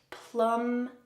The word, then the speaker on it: plumbing: away from your drain notice that the b here is silent plum in plumbing we're going to be